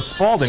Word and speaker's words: Spalding: now the ball was the ball was a spalding right s p a l d i n g right pronounced s p a l d e e m SP where did that